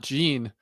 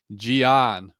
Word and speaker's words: Gian: Hey, also, it's not Gene. A guy hit me up on the comments and was like, dude, you're saying it wrong. It's not Gene. And I looked up Bruce Buffer, John A. Martinez. They're saying like Gian Silva.